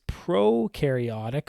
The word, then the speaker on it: prokaryotic: One is prokaryotic and one is eukaryotic. Now, when I say prokaryotic, I'm stealing this from the Amoeba Sisters, okay? Pro rhymes with no, and it means no membrane-bound organelles.